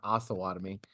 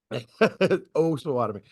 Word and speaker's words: Osawatomie: I can't in any way talk because everybody calls my town Osawatomie, which is awesome, but it's not how it's pronounced. Osawatomie.